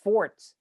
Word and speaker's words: forte: weren't elizabeth brown said the word forte is pronounced forts not forte that's it you want to sound like an and correct people it's been mispronounced for so long that the pronunciation forte has been added as acceptable oh really do you